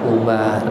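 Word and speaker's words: عمر: Ain mim ro, kalau enggak ada wawunya cara bacanya Umar. Kalau ada wawunya Amru ya. Bukan Amr juga ya.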